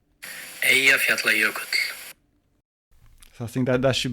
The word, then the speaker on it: Eyjafjallajökull: So if you press the play button there and hear the proper Icelandic pronunciation. Eyjafjallajökull.